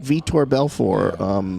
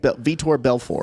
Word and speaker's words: Vitor Belfort: He's going to fight Vitor Belfort, retired UFC fighter.